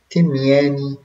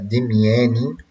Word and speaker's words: Demiana: تي أوجية إمي، تمياني، أو في بعض المصادر بيقولوا بالدلتا فتبقى دمياني.